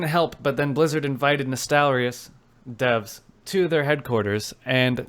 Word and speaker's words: Nostalrius: I remembered how to say it because the realm was named after nostalgia. So Nostalrius shutdown, and they have invited the devs to their headquarters.